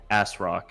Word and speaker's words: ASRock: ASRock, yeah. Thank you. Sorry, I want to pronounce it correctly.